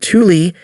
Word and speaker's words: Thule: northern military installation is the Thule pronounced Thule Air Base which can